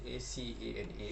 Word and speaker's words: Acana: Yang seterusnya Akana. Tak tahu sebut macam mana. Ada orang sebut Acana, sebut Akana. Ejaan ni ACANA. Sini sikit. Acana.